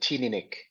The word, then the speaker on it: Teaninich: Do you pronounce it Teaninich, Yao? This is the one situation where I have to refer to. I pronounce it Teaninich.